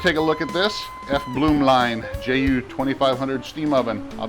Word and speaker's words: Blumlein: another toy to play with i got the f bloom line that's how you say it f bloom line